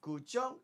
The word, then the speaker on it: guzheng: Guzheng. Yeah, Fingazz is always better at, you know. So is that the it. proper pronunciation with the tone up? Yes. Guzheng. Yeah.